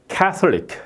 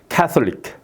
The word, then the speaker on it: Catholic: 예외가 여기 IC가 여기에 있는데 Catholic 이렇게 발음하는 거예요. Catholic 이렇게 발음되는 거죠.